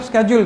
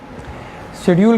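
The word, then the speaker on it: schedule: अच्छा, ये अब स्केड्यूल क्या है? शेड्यूल कह लें, स्केड्यूल कह लें, इट्स a pronunciation American and English system.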